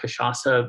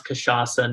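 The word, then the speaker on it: cachaça: might mispronounce it and with kashasa you have a sediya on the final c uh which no one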